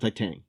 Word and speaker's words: Titane: Number one is Titane or Yeah, I think it's pronounced Titang.